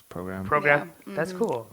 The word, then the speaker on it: PRGRM: right up here JM but we pronounce program broke yeah that's cool